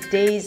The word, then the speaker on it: day: To say the word day, you wanna start with a D sound, and then it's the A as in day. So, if you don't have the A diphthong in your language, you're probably pronouncing it as day, day. You have to reach an E sound at the end, day, and see that there is transition from one sound to another, day.